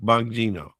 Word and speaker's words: Bongino: But any case, here Bon Bong Bongino.